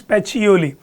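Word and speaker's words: Pacioli: Okay, the pronunciation is पेचियोली।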